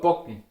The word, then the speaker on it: packen: And we have the word packen, den Koffer packen, den Koffer bocken. Okay, you can hear between packen and bocken. It's a soft B.